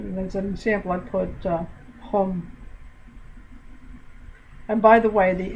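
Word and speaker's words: không: no or zero okay it's spelled k h o n g and i don't know why but the ng when it's at the end of a word sounds like an m and it's at the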